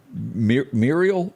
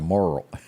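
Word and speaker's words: mural: Muriel, did I say that correctly? That's one of those words that I could never get quite right because I always want to say moral.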